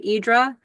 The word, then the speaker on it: Hydra: It sounds like uh when they tell Americans how to pronounce it, they say Idra, but I think it's not really a D.